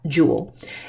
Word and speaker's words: Joule: name this gentlemen is was named James Prescott Joule and it is pronounced Joule by jewelry even though it is